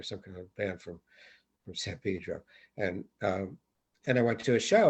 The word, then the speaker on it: San Pedro: Although it's pronounced, and we're Easterners, it's pronounced San Pedro. You have to be from LA to know that, but it is, which is ridiculous.